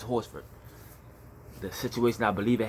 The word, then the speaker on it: Horsford: And I hope that's I'm pronouncing that right, Horsford, and maybe it's not Horford and the S is silent. I believe it's Horsford.